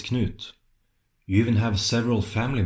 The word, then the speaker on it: Knut: Harald, why do you say Canute? You know it's Knut.